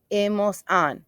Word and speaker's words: hemos: Because the H is not pronounced in Spanish. We don't go in ha, ha. Nope. We start in the vowel. So, e, as, a, hemos, an.